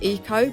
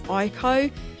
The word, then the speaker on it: Ico: So I'm pretty sure this game's pronounced Eco, but I've always said it as Ico.